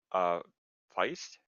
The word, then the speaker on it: Feist: Richard Feist? Is that how do you say it? Fist. Fist. Yep.